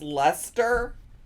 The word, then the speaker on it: Leicester: It's just Leicester. How do you get Leicester from that?